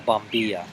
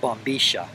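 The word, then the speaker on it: bombilla: forth they pronounce it Boma cuz uh for some reason that I guess I'm not really sure why the Double L Sound in Spanish is pronounced sh um just kind of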